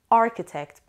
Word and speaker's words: architect: today's lesson architect architect architect the stress is on the first syllable architect means a person